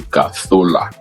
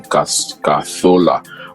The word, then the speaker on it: Cazorla: His name is Santi Cazorla, but I think in the Spanish way they call him Santi Cazorla. That's the pronunciation, Cazorla.